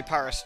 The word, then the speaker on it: Paris: I mean, the British say Paris generally, but obviously, if you. For the French, it's Paris, right? That's how you say it, but.